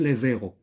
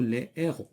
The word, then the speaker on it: heures: ولا liaison عاوتاني فاش كنقولوا les heures في الاش كي ني با ميي ما كتكونش لا liaison ما كنقولوش لي زيرو كنقولوا لي ايرو.